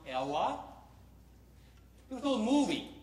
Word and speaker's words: ELAA: ELAA, which we pronounce Ella.